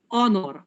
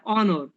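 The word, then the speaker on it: honor: যেমন আওয়ার, এইচ উচ্চারণ কিন্তু হাওয়ার হয় না, আওয়ার। আবার বা অনর, অন, হ্যাঁ অনর।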